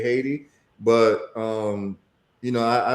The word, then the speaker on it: Haiti: Um, also known as ITI, which is the proper pronunciation, but some people don't know, so I'm just going to say Haiti.